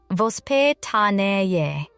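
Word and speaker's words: воспитание: To understand why these 10 minutes matter so much, we need to understand a Russian idea called vospitanie, pronounced vos-pi-ta-ni-ye. In English, we often translate it as upbringing, but that doesn't capture the full meaning.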